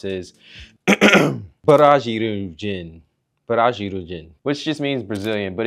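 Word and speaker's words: ブラジル人: For some reason, the R is pronounced differently, so it's pronounced la, be, and do.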